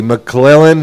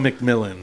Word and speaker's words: McMillan: Millan, am I saying that right? Tedoa McMillan. McMillan. Oh, McMillan. Okay.